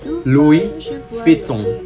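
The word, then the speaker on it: Louis Vuitton: ini atau kali pernah membelinya ini dia cara pelafalan brand-brand terkenal dari Perancis yang pertama Louis vitton yang kedua ini agak muda Syanel yang keempat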